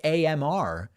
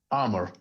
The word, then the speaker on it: Amr: It's just AMR, which doesn't. It seems like there should be another vowel in there somewhere. I'm sorry. What was that? Amr.